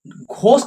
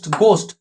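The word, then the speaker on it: ghost: ঘোস্ট নয় কিন্তু, এটা গোস্ট।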